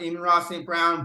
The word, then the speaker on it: Amon-Ra St. Brown: I believe it's pronounced Amon-Ra St. Brown, but as an Egyptian history buff, I know Amon-Ra is the Egyptian sun god, so we're going to go Amon-Ra St. Brown, just very important for the pronunciation for me.